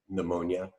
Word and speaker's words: pneumonia: other words that start with P like pneumonia and pneumonia or pneumatic and have a silent p in the front but every one once